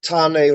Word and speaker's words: Tain: Tain Rory Moore, and if you actually pronounce that in ancient Gaelic, it's pronounced Tane Rory Moore, which sounds very Maori.